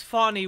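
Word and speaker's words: Fani: made this mistake by calling her Fannie Willis the first time I started covering this story just because I wasn't aware of how to say her name but it's it's Fanny Willis funny in an earlier filing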